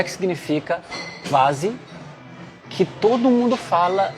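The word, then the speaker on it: quasi: Em alemão não é qua, é qua. É como se fosse um KV. Quase. E o I é mais, né? Quase.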